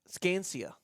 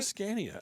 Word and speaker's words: Scania: I think it's a Scania. I think Scania Sa N I A. I think that's the way it's pronounced. I apologize for you. Put an extra C in there.